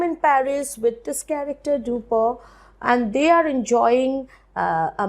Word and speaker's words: Dupin: with my friend C Auguste Dupo the the pronunciation is duper although spelling is dupin it's absolutely okay if you say dupin so long as you get the spelling correct